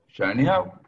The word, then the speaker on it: Ganeau: Me toca presentar a mí, a Yaneau. ¿Está bien pronunciado su apellido? Podríamos terminarlo con O porque es francés de origen, pero si no le damos en criollo, no hay problema.